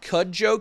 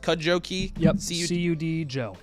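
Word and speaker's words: Cudjoe: Uh, Cud Jojo key, I think, is how it's pronounced. Cud joe.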